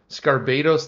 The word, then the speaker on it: Scarbados: Scarbados, like Barbados.